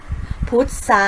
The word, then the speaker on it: พุทรา: ซาย ต้น ไทร และ พุทรา อินทรีย์ และ ทรัพย์ ค่ะ เห็น ไหม คะ จะ ออก เสียง เป็น ส โซ่ ทั้ง หมด เลย นะ คะ เรา ไม่ ออก เสียง ทร ค่ะ อ่ะ ก็ จะ ไป